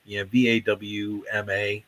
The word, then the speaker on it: VAWMA: As far as pronunciation goes, it's like, VAWMA. I mean, even it all,